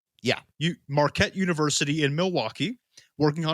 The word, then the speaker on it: Marquette: chemistry student at and i believe this is pronounced marquette yeah marquette university in milwaukee working on his phd and